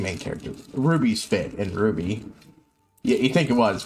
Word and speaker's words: RWBY: character Ruby's fit in Ruby yeah you think it was but Ruby is spelled uh RWBY whereas her name is r u y it's an acronym of the main characters names who Jeff you're freaking